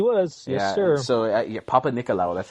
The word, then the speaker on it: Papanikolaou: correct yes he was yes sir so a Papanikolaou that's how you say his name and and